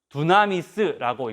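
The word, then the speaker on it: δύναμις: 헬라어입니다. 두나미스라고 읽습니다.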